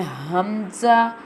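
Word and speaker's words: همزة: And Hamza. How will pronounce the Hamza? Hamza pronounced from the bottom part of throat.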